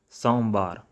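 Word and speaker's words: ਸੋਮਵਾਰ: So at the end, make sure when you're going to pronounce their names, pronounce strong R at the end, like somvaar, mangalvaar. Alright?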